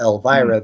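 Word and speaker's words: LVRA: Elvira, but it's spelled LV-RA.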